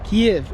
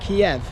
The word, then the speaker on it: Kyiv: probably already noticed, that I pronounce Kyiv two ways, Kyiv and Kiev. Now as a Westerner I've always known this place as Kyiv, so I've got into the habit of saying Kiev. And do you know what, it's really difficult to break that habit. I get people leaving me messages saying it's Kyiv, not Kiev, and I don't even